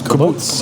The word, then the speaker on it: kibbutz: Is that the way you pronounce it? Kibbutz? Kibbutz.